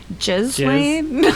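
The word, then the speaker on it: Ghislaine: If you think about it, this is how I remember how to pronounce her name, Jiz Lane, because of all the all the essay.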